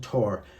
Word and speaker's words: Thor: Tor, pronounced T-H-O-R, pronounced Tor.